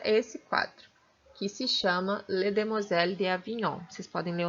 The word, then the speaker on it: Les Demoiselles d'Avignon: fala que eu esqueci escreve desse jeito se pronuncia desse jeito les demoiselles d'avignon e bom e esse